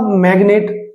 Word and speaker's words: magnet: अब इसी में एक्सेप्शन वर्ड देखिए, अब मैग्नेट, MAGNET, तो यहाँ पे एन से पहले जी है, ये साइलेंट नहीं है, तो यहाँ पे जी बोला जा रहा है, मैग्नेट।